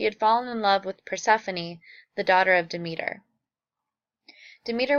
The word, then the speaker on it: Persephone: Hades and Persephone and it's pronounced Persephone not Persephone at the beginning of